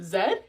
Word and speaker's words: zed: They pronounce the letter Z, Z.